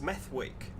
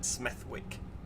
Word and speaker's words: Smethwick: Smethwick should be pronounced Smethwick, just because it upsets people when you call it Smethwick.